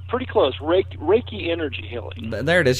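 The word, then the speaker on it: Reiki: that right I think I I I actually mispronounced it no it's pretty close raake raiki energy healing there it is you know as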